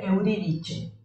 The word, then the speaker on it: Euridice: sí, en italiano se pronuncia Euridice. Ah, bien, ok. Bueno, Euridice, ¿sí?